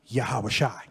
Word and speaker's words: Yahawashi: Now, you know, Joshua in ancient Hebrew is pronounced Yahawashi.